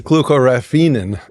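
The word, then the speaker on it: glucoraphanin: We're going to go to Jed for pronunciation. Glucaraphin.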